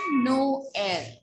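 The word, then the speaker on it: Noël: The role is that we are going to pronounce both these vowels individually. We are going to give them their sounds. Okay? What is the pronunciation? Noel. Suppose there is one more word, M-A-I-S.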